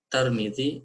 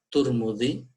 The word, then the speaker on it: Tirmidzi: Imam Tirmidzi rahimahullah, ya, Tirmidzi, ya, bisa kita baca Tarmidzi atau bisa Turmudzi atau Tirmidzi. Jadi 3 cara baca yang bisa dibaca menurut para ulama kita.